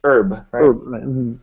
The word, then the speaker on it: herb: example the word this in american english you don't pronounce this h it's herb so you say an herb i don't know oh